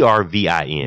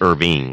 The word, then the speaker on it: Ervin: Oh, by the way, that's Irvin with an E. Irvin with an E. Ervin. Yeah. Because some people think it's Irving, like Irving Magic Johnson. Or they think it's spelled correctly with an I. And I didn't spell it correctly. It's with an E. Yeah, it's Ervin. Yeah.